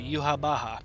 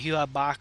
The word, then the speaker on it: Yhwach: about this video because yuha Baja that's how you say his name by the way yuha Baja not you have Bach or some [ __